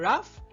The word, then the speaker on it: rough: ঠিক একইভাবে রাফ, টাফ, এনাফ সবগুলোতে এইউ জিএইচ বা ওইউ জিএইচ প্যাটার্ন আছে।